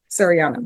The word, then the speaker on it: Sariana: Serini, how do you pronounce it? Shadiana? Sariana.